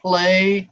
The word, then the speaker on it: played: Yesterday, I played. D, d, d, d. Not t. It is d.